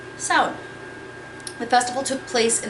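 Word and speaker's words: Samhain: the Celts believed that sound was a time with the dead could walk among the living now I keep saying sound because that's what the pronunciation guides implied but it is not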